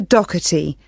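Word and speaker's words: Docherty: have your full name please yes it's doti I'll spell that for you it's d o c h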